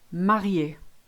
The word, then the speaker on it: marié: So an acute, which is this way around, makes it sound E. Café, cinéma, marié.